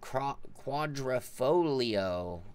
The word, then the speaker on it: Quadrifoglio: about project cars three don't pronounce the G in Quadrifoglio okay there you go